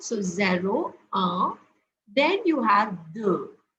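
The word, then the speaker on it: zéro: first one is zeru the first one is pronounced as zero here you will notice that I have given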